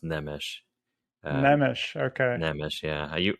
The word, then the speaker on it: Nemes: to make one correction my last name actually is pronounced nemish Nish okay Nish yeah